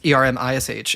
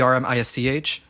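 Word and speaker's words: Ermisch: with german there's like s-c-h that's like a lot in like the german language it's not pronounced like like the ish sound but so like you know my last name is erm ish it used to be erm isch oh okay but uh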